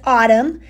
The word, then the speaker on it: autumn: It still reads autumn. The N is still there, even though the N seems silent, it's still there.